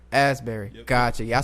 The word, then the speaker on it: Asbury: Asbury. Asbury.